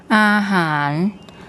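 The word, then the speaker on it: อาหาร: And then the second syllable we have the hoheap H consonant, the long R, and the ro which makes an N sound. Ahan, Ahan, Ahan.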